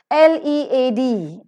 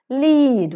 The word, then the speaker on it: lead: pencil it is the lead pencil that you have to ask when you go into